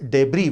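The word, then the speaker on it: debris: दुनिया भर के वैज्ञानिक और सरकारें अब बहुत डर गए कि ये जो डेब्री है, डेब्री बोलते हैं, इसका प्रोनाउंसिएशन डेब्रिस नहीं होता, डेब्री, कचरा, मतलब अंतरिक्ष कचरा,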